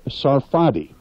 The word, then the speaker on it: Sarfati: a great talent Lea's real last name is pronounced Sarfati and she thought that her real first name